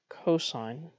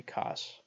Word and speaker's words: cosine: of a right triangle over its hypotenuse we pronounced sine sine please don't say sin cosine please don't say cos is defined as the ratio of the adjacent